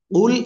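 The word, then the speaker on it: قُلْ: কিন্তু গুরুত্বপূর্ণ জিনিস দেখাচ্ছি কুল এর জায়গায় যদি এই উচ্চারণ চলে আসে কুল মোটা আওয়াজ এভাবে না হয়ে শুধু কুল হয়ে যায় এই যে কয় রসু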